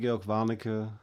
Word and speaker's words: Georg Warnecke: We've got George from Germany here, and I'm calling him that because he pronounces it with sounds I can't make. So I can't roll R's.